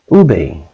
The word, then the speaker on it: ube: Ube, pronounced ube, is a purple yam that is a staple in the Philippines.